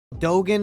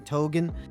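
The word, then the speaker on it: Dogen: he found it Dogan is his name I knew I wasn't saying it right I was saying Togan it sounds alike though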